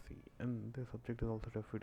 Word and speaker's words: cin: We use an object of the type iStream named cin, pronounced cin.